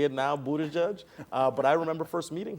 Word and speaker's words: Buttigieg: I can say it now, Buttigieg.